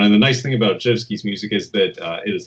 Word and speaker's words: Rzewski: not familiar, it's spelled R-Z-E-W-S-K-I. It looks like Rzewski, but it's pronounced Zhevsky.